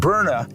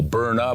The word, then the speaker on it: Byrna: makes perfect sense and burna is actually a play on words too phonetically burn uh like that capsaicin burns doesn't it right so burna but they spell it